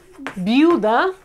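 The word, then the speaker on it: viuda: And again, biuda is a widow. Biuda, we have biu, both of them together, and then da.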